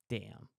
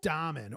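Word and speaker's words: Dahmen: while scrolling the internet Joel Dam or Joel Damon I've heard it pronounced both ways how does he say I think he says Joel Damon I like damond because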